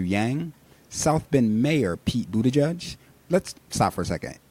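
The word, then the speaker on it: Buttigieg: for a second seriously y'all Buddha judge that is not hard all those people that cannot say his name including the political pundits on TV seriously get it together it's a Buddha judge not difficult former Vice President Joe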